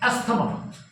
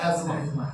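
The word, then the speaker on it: asthma: উচ্চারণটা কিন্তু ইসথামাস না উচ্চারণটা ইসমাস ঠিক যেমন অনেকে আমরা ভুল বলি অনেক ডাক্তার উপরেও বলে ভুল এসথামা উচ্চারণটা হচ্ছে এসথামা না উচ্চারণটা হচ্ছে এজমা স্পেলিংটা এসথামা স্পেলিংটা হচ্ছে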